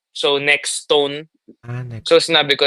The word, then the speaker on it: Nextone: ang ganda naman sa totoo walang tamang pronunciation ha hindi siya pag sinabi mong next one mali or pag sinabing next stone well we prefer next stone yun yung prefer namin